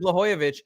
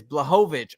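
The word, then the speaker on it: Błachowicz: Western says Blooyovic. Blah blah. Oh, am I saying it wrong? I thought I said I probably am. Dude, I pronounced I said Blhoyovich. It's Blovich. Okay, I apologize if I if I'm saying that wrong.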